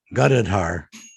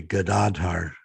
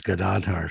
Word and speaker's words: Gadadhar: with everyone's name, that the devotees were pronouncing Gadadhar, and it's actually Gadadhar. And Prabhupada made comment about that. It's not Gadadhar, it's Gadadhar, Srivasati Gaur. Gadadhar. Emphasis on the second syllable.